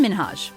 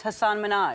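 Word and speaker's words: Hasan Minhaj: Television good please because everyone that says your name says Hassan Minaj yeah not only is minhaj clapping back at Ellen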